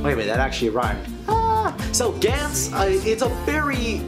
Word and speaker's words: Gantz: I don't know exactly how you pronounce it. I'm gonna say it the way the characters say it in the movie, which it's Gantz.